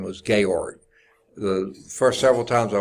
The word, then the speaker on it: Georg: first time was Georg GE o-r-g almost like George but this is pronounced as a long a sound Georg ohm okay I